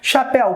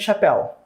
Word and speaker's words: chapéu: ó ela apareceu visualizou chapéu Qual é a sílaba tônica de chapéu aqui ó e tem que ser regra básica ela é oxítona paroxítona ou proparoxítona oxítona está acentuada pela regra das oxítonas um não não está